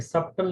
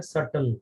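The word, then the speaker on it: subtle: ध्यान रखना इसमें बी साइलेंट है, ये सब्टल नहीं पढ़ते हैं, इसको क्या पढ़ते हैं? सटल, बी साइलेंट होता है।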